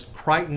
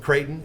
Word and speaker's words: Creighton: I think it was Crichton University. They were talking about the coach there who was very successful, a little small town. Creighton.